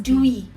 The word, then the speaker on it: dewy: then natural and DV. DV. What is Dewy. Oh, dewy. Yes, my pronunciation.